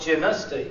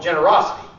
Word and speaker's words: Generostee: And the people that live and grew up in the area call it Genusty. That's the way they pronounce it. Genusty. Genus. But people that come in transplants, they come in and call it Generosity.